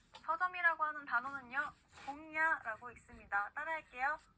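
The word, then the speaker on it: 本屋: 자, 서점이라고 하는 단어는요, 홍야라고 있습니다. 따라할게요. 홍야. 네, 이응과 이응의 그 중간 발음으로 꼭 해주시면 되고요.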